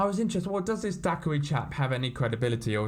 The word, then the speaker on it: Daqarie: formerly the almighty dak now i think daiquiri is how you pronounced it and he claimed